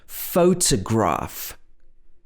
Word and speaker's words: photograph: ways for example photograph so in this word the second o is a schwa photo photo photograph in photography the first